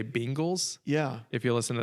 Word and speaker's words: Bengals: old is how old I was when I learned it's Bengals.